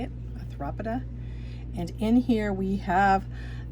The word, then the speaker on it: Arthropoda: is our arthropoda, that's how you say it, arthropoda.